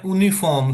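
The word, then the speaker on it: Uniform: और यूनिफॉर्म को बोलते हैं यूनिफॉर्म। स्पेलिंग सेम ही है लेकिन इसको आपने यूनिफॉर्म पढ़ना है।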